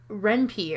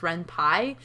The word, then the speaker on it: Ren'Py: This is made in Ren'Py, or I'm sorry. I think it's technically supposed to be pronounced Ren'Py because the programming language that it uses is Python.